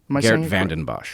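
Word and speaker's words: Geert Vanden Bossche: Geert Vandenbosch.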